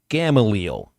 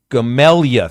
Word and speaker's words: Gamaliel: Gamaliel. Gamelia. Thank you very much, Cody, for actually spelling out for me how to pronounce that, because I did not think Gamaliel would be Gamelia.